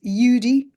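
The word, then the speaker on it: Eudie: My name is Yudi. It's spelled e u d i e.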